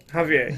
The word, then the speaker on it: Javier: Javier, yeah. Even though his name is spelled with a J, you apparently say it with an H.